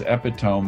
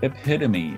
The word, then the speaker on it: epitome: son thought it was epitome because he'd never heard it pronounced but it's epitome and it's because it's from a greek word that is pronounced epitome it has a long